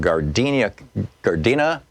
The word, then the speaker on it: Gardena: Barbara, listening on KPFK in Gardena, California.